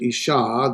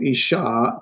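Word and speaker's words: אשה: Woman, where we talked about woman, here's isha. There's our doggish forte, doubling the shin. So isha, to make it a woman plural, it is adds the noon, the nashim.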